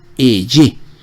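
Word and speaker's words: אהיה: Entonces se pronunciaría eye, así como lo coloca, eye.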